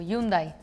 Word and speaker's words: Hyundai: two ways Hundai or yundai because of the the AG is muted in Spanish even if it's in the middle or the start at the end it's muted so that's why yundai Hundai but do you guys